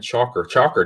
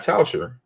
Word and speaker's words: Tschacher: We had a great show with Tschacher, not Tschacher. Tschacher, not Tschacher. It's spelled pretty much the same, but I think it's different.